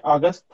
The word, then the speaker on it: August: August? August. August. Yeah. August. A-U tends to be ah. Sometimes it's ow. But yeah, it's like taught, caught. Yeah, usually A-U is ah. So it's a short O sound.